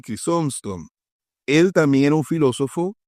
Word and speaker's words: Crisóstomo: Aquí tenemos al tercero, esto sí es bien complicado pronunciarlo, Crisóstomo, creo que se pronuncia así, Crisóstomo.